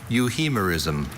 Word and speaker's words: euhemerism: Euhemerism. Euhemerism. That third syllable could be a concern.